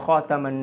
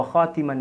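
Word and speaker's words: خاتم: Laqad kana lakum fi ma kana Muhammadun aba ahadim min rijalikum walakin Rasulullah wa khataman nabiyyin wa khatiman nabiyyin. Cara membacanya boleh dengan dua cara. Wa khataman nabiyyin atau wa khatiman nabiyyin.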